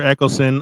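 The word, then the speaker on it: Eccleston: Eckleston, I know how to say it. As the ninth doctor and Billy Piper as Rose, Christopher Eckleston.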